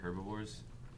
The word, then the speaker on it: herbivore: I'm pretty sure they're herbivores. So The H is silent, but herbivore.